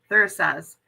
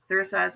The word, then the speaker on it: Thurisaz: And today we're going to talk about Thuras. I don't know how to say that. How do you say that, Kat? Thurisaz and Anzus. Thurisaz and Anzus.